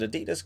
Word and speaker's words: adidas: and at 70 million I will pronounce it adidas because that's what we say it around here so yeah that's